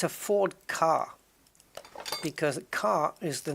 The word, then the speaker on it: Ka: Egyptian pharaoh name car k k is the initials but it's not pronounced K it's a Ford car